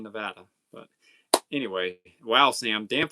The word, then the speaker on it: Nevada: Nana says, "I'm in Nevada." How do you guys pronounce it?